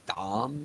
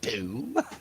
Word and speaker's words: Dom: creator i mod for couldn't pronounce dom she kept calling me doom it's not that it's